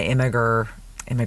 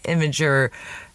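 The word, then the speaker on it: Imgur: But that's the one that I was a little worried about posting as my immigr. Oh my god, I used to say it like that. My imager post picture because I was worried it would get taken down.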